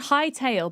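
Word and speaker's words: Hytale: It's called H High Tail, but it's spelled H Y T A L E.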